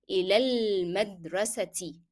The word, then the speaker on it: إلى المدرسة: And since it is a vowel that is followed by L, the definite article, then alif in this article will not be pronounced. So you will move from the ya pronounced as alif to lam. It will be إلى المدرسة.